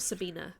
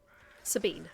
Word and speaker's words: Sabine: Are you Sabine or Sabina? Because I had a German friend whose name was Sabina. I like to pronounce things properly if I can. Sabine.